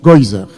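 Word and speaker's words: גזירה: Et en yiddish, ça se prononce Geuser.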